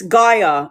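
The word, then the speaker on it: Gaia: Guyia. But it's GIA is spelled G A G A I A.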